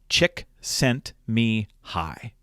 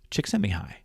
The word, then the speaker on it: Csikszentmihalyi: a few years ago as his last name, Csikszentmihalyi. Csikszentmihalyi.